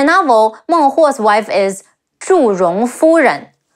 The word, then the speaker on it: Zhu Rong: In the novel, Meng Huo's wife is Zhu Rong Fu Ren, Zhi Wu Zhu, Ri Ong Rong, Zhu Rong.